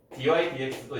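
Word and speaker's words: dy/dx: 이거 dx분의 dy라고 읽으면 옛날 사람이래요. 근데 우리는 다 이렇게 배웠어. 학교 다닐 때 선생님들이 다 dx분의 dy라고 배웠어요. 그래서 요즘 선생님들 중에서도 다 이걸 dx분의 dy라고 하는 분들이 많을 거야. 근데 너희는 dy dx라고 읽어요.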